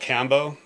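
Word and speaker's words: Kambo: I was like ayahuasca no so it's called Cambo it's like a klappa and I'm gonna I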